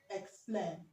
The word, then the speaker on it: explain: Now we have explain. Is explain, okay. Explain or explain. Now the e the e is pronounced ik or ek, okay, because what we have here is a consonant sound, okay.